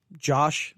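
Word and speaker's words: Jawsh 685: parentheses uh josh 685 j-a-w-s-h josh that's how i'm going to pronounce it uh jason um jason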